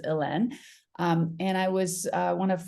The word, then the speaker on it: Hélène: obviously to everybody, but the accents are from the French pronunciation of Helene, which is Hélène.